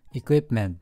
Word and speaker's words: equipment: になりますね最後の単語 equipment の発音記号はこうなんですけど P の音はほとんど聞こえないと思います意味は設備と